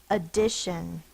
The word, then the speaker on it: addition: Is the schwa sound spelled by the A. Shun. Tion. Now, to make sure that this is not the long A, to make sure it's not an open syllable, you have to double the consonant. Here's the syllable break, so that it's closed, which should be short. But it's not short because it's in the unaccented syllables, so it's the schwa.